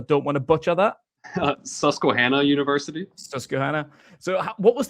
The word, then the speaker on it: Susquehanna: And can you remind me of the pronunciation of the school that you went to? Because I don't want to butcher that. Susquehanna University.